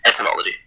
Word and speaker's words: etymology: Read Chuck Wendig's Invasive for Entomology, that's ants, no, etymology. Entomology. Etymology. Entomology. Thank you. I'm gonna avoid the word because I won't pronounce it correctly.